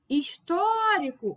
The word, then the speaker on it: histórico: Histórico. O tó aqui, né? É a nossa sílaba tônica.